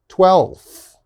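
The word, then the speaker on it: twelfth: with native speakers is we don't pronounce the f we just skip it so for example if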